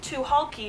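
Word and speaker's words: Tucholke: April Genevieve to hulky to hulky is how you pronounce it I know a lot of people have a hard time pronouncing its to hulky to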